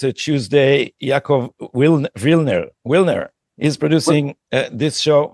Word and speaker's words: Yaakov: Wilner, because we write his name Jacob, so I get hung up on that to say Yaakov because that's how he pronounces it, because that's the Hebrew pronunciation.